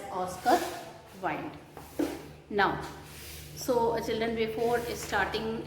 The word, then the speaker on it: Wilde: Though it is written at last, but we pronounce it as Oscar Wilde.